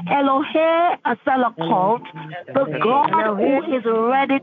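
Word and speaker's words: Elohay Selichot: The name of the Lord you're going to use is Eloheselokult. Eloheselokult. It is spelled E L O H A Y S-E-L-I-C-H-O-T. Hallelujah. So you're going to say Elohe Asalakot, the God who is ready to forgive.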